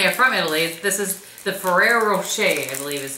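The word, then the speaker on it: Ferrero Rocher: they apparently are from Italy this is the Ferrero rochet I believe is how you say this right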